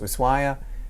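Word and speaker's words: Ushuaia: which started off in ushaa sometimes also pronounced isua and almost call it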